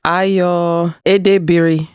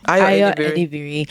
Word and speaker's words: Ayo Edebiri: It is Ayo Edebiri. Ayo Edebiri.